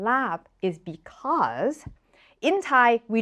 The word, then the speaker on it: larb: in Thai is pronounced lab but the reason why so many Thai restaurants choose to put r in it even though there is no R sound anywhere in lab is because in Thai